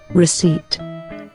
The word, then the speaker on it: receipt: And this is how it should be pronounced. Receipt.